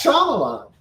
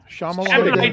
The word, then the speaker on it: Shyamalan: is I who he's Indian you guys aren't pronouncing it right even me yes Shyamalan ah Shyamalan shamalan sham so anyways what happened during the movie